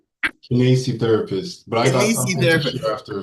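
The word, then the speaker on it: kinesiotherapist: He is our kinesio therapist. Did I pronounce that? Kinesi therapist.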